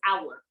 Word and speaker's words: our: it's our hour um it spells o u r it's pronounced hour like the time it's pronounced exactly the same hour okay and then the